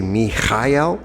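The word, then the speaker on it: מיכאל: And I like to say, "Mikel," which is how I've heard it pronounced in Hebrew.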